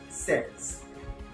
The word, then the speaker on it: says: But we pronounce that says S-E-Z.